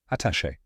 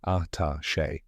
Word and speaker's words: attaché: And finally, che, which rhymes with day. Now say it with me, attaché.